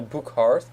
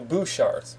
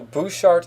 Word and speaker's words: Bouchard: name was pronounced and I always said Daniel book hard but apparently is Daniel Bouchard so Daniel Bouchard is the correct pronunciation if I'm correct as